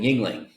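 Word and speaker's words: Yuengling: But they spelled it phonetically, called it Yingling, Well, and it ain't bad.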